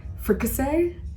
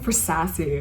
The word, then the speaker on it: fricassee: It reminds me of a time I spent half the day trying to pronounce fricassee, like the food dish. I kept on saying for sassy.